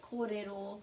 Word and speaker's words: kōrero: maori language know that korero means talk is the pronunciation and there's a macron here and we've got two